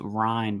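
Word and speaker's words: Rein: We have another article in part of the Washington Post series um from our fearless Washington Post representative whose last name is pronounced Ryan by the way.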